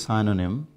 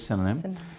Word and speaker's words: synonym: said to be synonymous some people say it is sign on him first thing is how to pronounce it that is wrong it is cinnamon and the state of